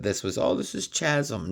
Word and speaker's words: Chasm: was oh this is chasm. No, it's chasm. It's pronounced chasm. Just like chaos is spelled ch. So chasm. Great color combination of that